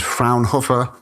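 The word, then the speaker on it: Fraunhofer: is produced by the I believe the pronunciation is frownhopper um group.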